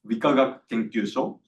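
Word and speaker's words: 理化学研究所: And this is pronounced as Wikagak Kenkyusho.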